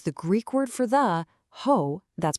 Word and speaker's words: ὁ: But you've got to stick with me on this because the Greek word for the hoe, that's pronounced ho, is so much more than meets the eye.